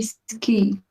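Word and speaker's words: sgìth: Yeah, with that, yeah, the G being in the middle of the sentence makes it pronounced like a K.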